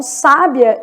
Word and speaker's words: sábia: E sábia, se tem acento no vizinho, o final fica juntinho. Então, sábia, eu tenho o I, que é 2, e o A, que é 5.